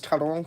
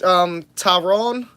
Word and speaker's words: Taron: Yeah, so fun fact, Taron, most people say it Taron. That is not the correct pronunciation.